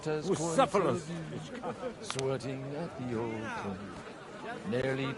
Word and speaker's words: Bucephalus: What kind of name is Bucephilus, anyway? It's pronounced Bucephalus.